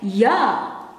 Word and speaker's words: ja: In Dutch you write it this way, but you pronounce it as ya.